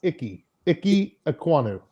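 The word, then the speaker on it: Ikem Ekwonu: word and then don't don't pronounce the m it's icky icky ekwano oh perfect yeah goes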